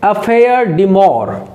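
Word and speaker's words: affaire de cœur: French word है और इसका प्र सशन आप करोगे अफेयर डिमर अफेयर डिमर अफेयर डिमर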